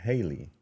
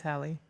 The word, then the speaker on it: Halle: They're not twins, but they're Chloe and Haley. Is it Haley? You're saying it wrong. It's Hallie.